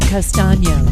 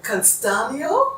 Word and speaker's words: Castano: Castano? That's right, Castano.